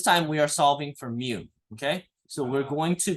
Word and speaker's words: mu: It's mu, but it's mu. In case you're wondering. Okay. All right. So far, so good. Stop talking about Pokemon, you nerds. It sounds like Mew from Pokemon, but you guys only start talking about other Pokemon.